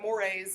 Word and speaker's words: mores: yeah so it's just like one word but mores is how you pronounce it okay and this is behavior attitudes